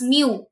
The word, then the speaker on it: mu: Mu, M-E-W, mu, pronounced it as mu, M-E-W.